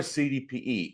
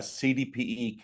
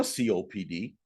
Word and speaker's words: CDPE: when a a cdpe cannot even pronounce the initials in the right order I have agents that will say I'm a COPD and I'll go iy I'm sorry that must be rough it's not COPD people it's CDP certified distressed